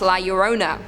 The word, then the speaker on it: La Llorona: Anadem9 said, for anyone who cares to know, La Llorona is actually pronounced La Llorona.